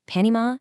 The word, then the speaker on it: Panama City: Locally, those are pronounced Panima and WeWa. Say it wrong and you instantly out yourself as a tourist who doesn't belong.